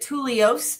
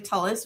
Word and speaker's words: Tullos: Everyone wants to pronounce it Tullos, but it is actually Tullos, which is funny.